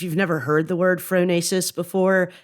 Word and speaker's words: phronesis: mobilizing the idea of the frenetic tradition and fasis and we may have listeners who don't know